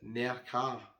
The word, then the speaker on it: Nerja: moved on to beautiful Neha quite a few people have told me you need to pronounce it near car not sure how you can announce it I'll just call up beautiful near her and I stayed in